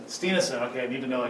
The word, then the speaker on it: Stienessen: Stienessen. Stienessen.